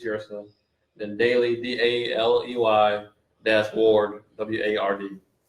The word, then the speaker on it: Yrsa: YRSA is Yersa.